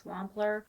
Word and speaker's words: Wampler: The biggest thing I get is it, how do you pronounce it? Wampler? By the way, it's Wampler.